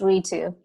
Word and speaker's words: Ritu: so could you tell me how to pronounce your name so i can say it correctly yeah it is we too there you're funny me too say your last